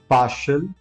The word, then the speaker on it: partial: Instead of saying shiel, just call it shell. Shell. For example, partial, substantial and potential.